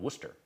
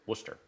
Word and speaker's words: Worcester: i knew i like had to drop a bunch of a bunch of letters in there i lived in a little town in boston called worcester or in massachusetts called worcester when i was a little kid and it's just 17 letters in it worcester yeah yeah same deal um